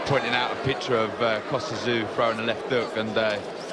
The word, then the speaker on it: Tszyu: Beautiful one, straight down the pipe from Tszyu, called Czu, of course, in Australia. But Kostya once told me that because of his Russian ancestry, he preferred Tszyu as a pronunciation.